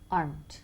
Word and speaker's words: aren't: Remember, it's only una sílaba. Aren't. Aren't. Y nunca dos. Nunca aren't. Aren't.